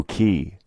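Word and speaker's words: chi: as you can see the letter X in Greek spelled c-h-i is pronounced k-i the way it's spelled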